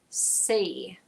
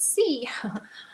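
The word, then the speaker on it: sø: We pronounce that say, like a long E in A. Say, which means lake. It's not sea, but it's say.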